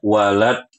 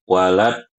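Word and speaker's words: وَلَا الضَّالِّينَ: Kalau kita bisa baca dengan fasih, dan alhamdulillah tadi saya dengar Ibu-ibu sudah cukup bagus makhraj dotnya, maka baca dengan waladdallin. Jangan dibaca waladdallin, jangan.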